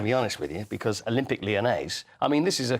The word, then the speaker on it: Olympique Lyonnais: And it rhymes with mayonnaise. It does rhyme with mayonnaise also. So I like the sound of both those things. Yes, Olympique Lyonnais.